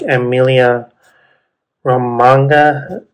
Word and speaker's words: Emilia Romagna: So you have tracks like Emilia Romagna, that's how you pronounce it, and yeah, other race tracks are replacing those calendar dates.